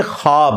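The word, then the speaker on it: خواب: सकता अच्छा यह लफ्ज लिखने में है ख्वाब खवा वा अलिफ बा लेकिन पढ़ने में यह ख्वाब है वा साइलेंट हो जाता है ख्वाब पढ़ा जाता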